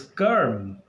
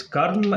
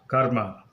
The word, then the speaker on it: karma: word in sanskrit is kerm just like the word firm and the ra sound is a little more prominent so especially the western